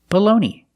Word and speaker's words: bologna: Today we're talking about these two words, and they're pronounced exactly the same. Baloney. The first word is baloney, and the second word is baloney. The first vowel is the short sound, like cup and up, below.